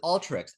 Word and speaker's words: Alteryx: I say Alteryx. Is it Alteryx? Is that how you say it? I've heard both, including from Dean Stalker, their founder. Alter is it's Alter YX because they have this geospatial background.